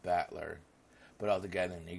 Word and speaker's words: Battler: so far that was my given name is made up of the characters for fight and person it's pronounced battler but all together and